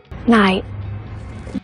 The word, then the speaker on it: night: Night. Oui, c'est ça lié même. Night. Qui je me dis? Night. Une dernière fois avec moi. Night. Attention, on va dire nat. C'est pas nat.